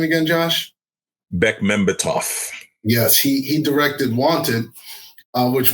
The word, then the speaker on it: Bekmambetov: How do you pronounce his last name again, Josh? Bekmambetov.